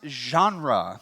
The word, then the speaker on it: genre: like the word Ginn read but it's actually pronounced genre so it's you know makes you sound a